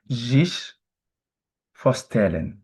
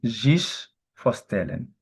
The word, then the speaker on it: zich voorstellen: We say zich voorstellen. I repeat again, zich voorstellen. Remember, I told you S at the beginning of word is Z.